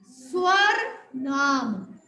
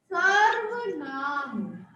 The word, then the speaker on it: सर्वनाम: बोल के देखो, ठीक है, स्वर नाम। ये गलत है, स्वर नाम नहीं, सर्वनाम। Okay clear? अब हम क्या प्रोनाउंस करेंगे इसको? सर्वनाम। सर्वनाम, स्वर नाम नहीं कहना, सर्वनाम।